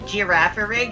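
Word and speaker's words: Girafarig: Alright, also in English it's pronounced giraffe-a-rig, even though it's a palindrome.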